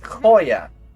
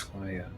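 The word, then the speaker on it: Khoya: Her name is Koya. Koya. Yes. Coya. So, so she'll like in if you were to spell it with English lettering, K H O Y A, which is abyssal for lost.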